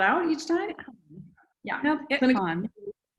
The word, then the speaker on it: ITQAN: You spell it out each time? Yeah. Nope, ITCON. ITCON.